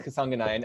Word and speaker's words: Kasanganay: I think you did a good job with that pronunciation. Yeah, it's Kasanganay.